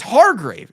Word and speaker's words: Hargrave: what did I say it as Chad it's Hargrave it's Javon Hargrave the the Cowboys should sign